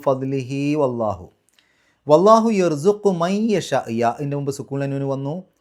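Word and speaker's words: يَشَاءُ: അപ്പോൾ മൻ യശാ, യശാ എന്നുള്ളിടത്ത് മദ്ദും ഹംസയും അടുത്തടുത്ത് വന്നു, ഒരേ പദത്തിൻ്റെ ഉള്ളിൽ നിർബന്ധമായും 4-5 അക്ഷരങ്ങളുടെ ദൈർഘ്യം നീട്ടണം.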